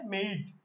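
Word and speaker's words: made: জানি নরমালি এভাবে পড়ছি মেড তুমি যদি এইভাবে মেডকে এই উচ্চারণটা যদি এভাবে পড়ো মেড তাইলে তুমি ভুল করবা এটার একচুয়াল উচ্চারণ হচ্ছে মেইড ঠিক আছে মেইড ওকে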